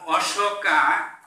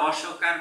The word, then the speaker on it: অশোক: আর অশোকা উচ্চারণটা অশোকার মতো হয়, কিন্তু রাজার নাম হচ্ছে অশোক।